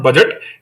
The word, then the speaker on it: budget: But the budget is pronunciated as a budget. It's a budget, not budget, right? It's not budget, it is budget. And especially it is coming from the French origin budget, right, which means a leather bag, right?